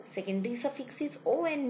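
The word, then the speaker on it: -one: Secondary suffix is O N E, on. It is pronounced as on.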